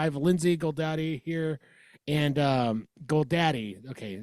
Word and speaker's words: Goldade: I have Lindsay Goldade here, and Goldade. Okay, not Dottie. Goldade, yep. That's a fancy way of pronouncing it.